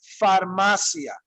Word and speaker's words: farmacia: Pharmacy would sound like this in Spanish. Farmacia. Farmacia. Farmacia. That's pharmacy, okay? Farmacia. And that's spelled with the letter F, okay?